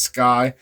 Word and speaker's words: SCCY: It's pronounced Sky CPX2.